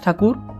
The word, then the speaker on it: Thakur: for his literature, then the British used to call him Rabindra Nath Tagore instead of Rabindra Nath Thakur because those people did not know how to pronounce Thakur properly and due to this